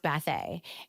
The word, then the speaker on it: Bathé: It's a very long story, but it's it's pronounced Bet. And so sometimes you get to the point where people are they call you all kinds of things and it's just bathe.